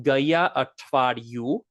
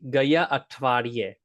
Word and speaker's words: ગયા અઠવાડિયે: Now you might be thinking Gaya Atvaryu, right? Gaya Atvaryu, and that's not quite right. It's really close, but we're gonna make it end in A.